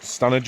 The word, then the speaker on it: Standedge: So the plan is to try and get, well, the official route goes as far as Stanage today, spelled Standedge, pronounced Stanage apparently.